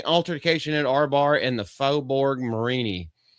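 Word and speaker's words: Faubourg Marigny: at Arbar in the Fobborg Marini. Yes, that is how you or for Marini. That's how you pronounce that. It's cinjun French, guys. You're going to have to get used to it.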